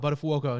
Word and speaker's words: Buttafuoco: No one could pronounce his name. I'm like, oh, Buttafuoco. And he's like, yes, thank you.